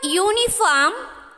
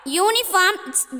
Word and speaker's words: uniform: Actually, the word uniform begin with a vowel letter. Have you noticed? U. But the word uniform pronounced with a ya sound.